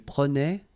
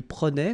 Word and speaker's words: prenait: Je prenais, tu prenais, il prenait, final T not pronounced, so the same form, okay?